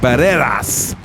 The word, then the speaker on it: Barreras: Speaking about names, I've been calling him Barrera without pronouncing the S, and he corrected me by saying that because Paul asked him, "Is your name Barreras or Barrera?" So I thought that the S was silent, but it's Barreras, San Diego, Texas.